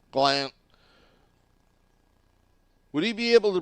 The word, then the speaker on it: Gallant: That's how he wants his name pronounced. Gallant.